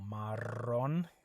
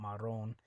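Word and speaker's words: marrón: Brown Cafe means Brown remember when you have a double r that you roll that r okay so Maron Maron it's not maroon Maron okay uh also one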